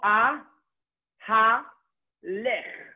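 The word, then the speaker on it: אהלך: O a ha lech. Okay, aleph with a kamat a, hey with a chataf kamat ha, lamed with a tzere le, and the final chaf is silent. Shva, silent. Ahalech.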